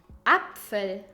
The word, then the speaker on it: Apfel: combination is p f every time you see p f you pronounce it gently as f and not like an angry for example funneh pan apfel apple third horse the